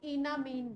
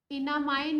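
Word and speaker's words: enamine: ठीक है, तो इसको कंबाइंड में इन और अमीनो अलग अलग नहीं बोलते, इसको इनामीन बोलते हैं। क्या बोलते हैं, इनामीन, इन एमाइन ग्रुप, इनामाइन या इन एमाइन, जो प्रोनाउंस करना चाहो, ENAMIN, इनामाइन ग्रुप।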